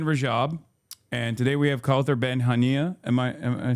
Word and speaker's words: Kaouther Ben Hania: So that's the Voice of Hind Rajab, and today we have Kaouther Ben Hania.